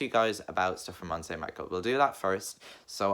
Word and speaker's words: Mont Saint-Michel: So I'm going to talk to you guys about stuff from Mont Saint-Michel.